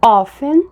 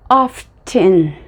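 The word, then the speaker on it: often: a idade ou Ok existem duas pronúncias para ofen existe a pronúncia offing e a pronúncia of Thing a pronúncia of Chan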